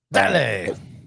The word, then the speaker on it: Dale: Dale.